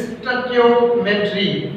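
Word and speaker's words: stoichiometry: जो वर्ड स्टोइकियो है, स्टोइकियोमेट्री, बेटा इसको कुछ बच्चे स्टोइकियो पढ़ते हैं लेकिन इसका जो करेक्ट प्रोनाउंसिएशन है दैट इज स्टोइकियोमेट्री.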